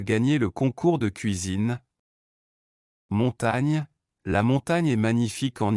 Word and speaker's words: montagne: En français, la combinaison GN correspond au son ENE en espagnol et se prononce comme NI dans le mot anglais canyon.